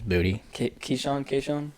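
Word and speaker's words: Boutte: His name's said 3 different ways, so I don't know how to say it. It's Booty. Keyshawn.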